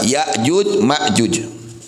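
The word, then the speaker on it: يأجوج ومأجوج: Inna Ya'juj, sesungguhnya Ya'juj wa Ma'juj dan Ma'juj bil hamzi, bacanya dengan hamzah, Ya'juj Ma'juj. Wa tarki, dan tidak memakai hamzah, Ya'juj Ma'juj. Jadi bacanya bisa dua cara bacanya. Bisa Ya'juj Ma'juj atau Ya'juj atau Ma'juj ya. Bacanya dua.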